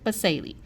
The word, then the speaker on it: basale: I say that it sounds like the word spells like base, so the bottom layer, stratum basale.